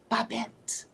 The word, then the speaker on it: Babet: my name is pronounced it is a French name and it is pronounced babet so it don't make